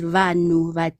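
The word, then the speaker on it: vanhu: Uh black people is vanu.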